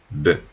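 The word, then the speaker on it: bœufs: Nosotros vamos a hasta pronunciar la F, vamos a pronunciar la S, vamos a pronunciar B, cosas así. Y son solo dos signos.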